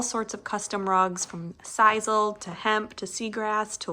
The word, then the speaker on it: Sisal: This is from Sissel, or actually Sisal, I think is how you pronounce it.